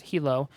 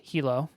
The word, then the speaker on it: Hilo: It's pronounced Hilo. Sometimes I call it Hilo, but it's pronounced Hilo according to Lynx.